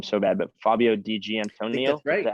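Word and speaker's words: Fabio Di Giannantonio: I'm gonna butcher his name so bad but Fabio DG Antonio is that how you say it that's right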